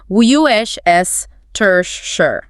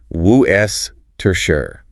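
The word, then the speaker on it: Worcester: And they collapse into just three short syllables. Woo s tersure.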